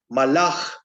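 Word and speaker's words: מלאך: Es malach. Así se pronuncia. Mensajero a secas. Malach, malach. Malach. Bueno, mejor dicho, malach, porque hay una alef allí.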